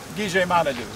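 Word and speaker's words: Gichi-manidoo: At Harry, at our church, we pronounce it Gijimanadu, Gijimanadu. So when you get there, you try to remember that, Gijimanadu.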